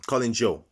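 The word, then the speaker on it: Collin Chou: we have the defender gently calling shaw um colin joe that's how you say it and gently um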